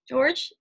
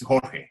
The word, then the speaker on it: Jorge: George, how would you pronounce, just to make sure? The English version is simpler, George, but George. But yeah, in Spanish it's Jorge.